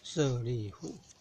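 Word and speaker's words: 舍利弗: 我号称智慧第一的舍利弗，佛陀的佛左边那个人字旁没有，要念作弗，舍利弗。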